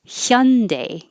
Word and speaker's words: Hyundai: car brands hyundai it's so you're starting with your tongue in the y position and then you make air flow for the h it's not i know it's not the perfect korean pronunciation but that's as close as americans get with that pronunciation if you don't start your tongue in the y position it will sound like more like honda which is the ah